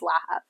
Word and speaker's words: Lahav: family but the actual correct Hebrew name is laab tell me about your background you were at